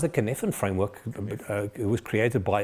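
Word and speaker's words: Cynefin: Talking about AI, you mentioned the sinaphen framework. What does that actually mean? Um, it's pronounced the kfan framework.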